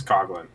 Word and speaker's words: Coughlin: you go all right it's not coffee it's Coughlin oh Coughlin it's not like you're actually coughing whenever I see that name it's always pronounced Coughlin that's so weird anyways